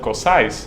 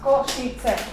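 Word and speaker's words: Košice: We saw something about a place called Kosice. You pronounce it wrong. It's pronounced Kosice.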